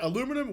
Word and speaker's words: aluminum: Like, you guys say aluminum, we say aluminium. You drop the syllable, but then in military, you say military, you added the syllable.